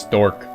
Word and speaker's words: Storch: Apparently it's just pronounced stork.